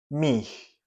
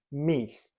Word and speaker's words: mich: Mich. La pronunciación es mich, como una G bien rasposa.